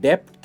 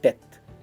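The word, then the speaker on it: debt: इन डेथ इसकी pronunciation डेप्थ नहीं है, हम डेथ कहते हैं, डेथ एंड नॉट डेप्थ, जिसका मतलब होता है कर्जे में होना या फिर किसी का आभारी होना, आभार व्यक्त करना।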